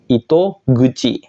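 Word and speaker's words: 糸口: kanji mulut seperti ini dia akan dibaca Ito guci Kuci menjadi guci ya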